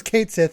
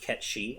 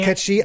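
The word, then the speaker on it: Cait Sith: of context what was kate sith up to yeah it's it's still wild to me that it's actually pronounced cat she i can't do it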